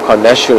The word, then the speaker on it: carnassial: See, when she chews into that tissue, the skin and the meat, she uses their carnassial shears, or carnassial shears, I've also heard it pronounced like that.